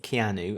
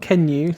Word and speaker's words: Keanu: But Keanu... Not Kenu.